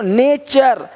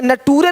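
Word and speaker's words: nature: देख पा रहे हैं यदि किसी शब्द के अंत में एस के आगे टी आई ओ एन हो तो टी के आगे यू आर इ आए तो टी का उच्चारण च होता है। देखो यहां पे टी का क्या होगा? च क्वेश्चन क्वेश्चन अब क्वेश्चन नहीं बोलते क्वेश्चन नहीं क्वेश्चन क्वेश्चन देखो नेचर यहां पे नटूरे नहीं बोलते नटूरे नहीं नेचर है ना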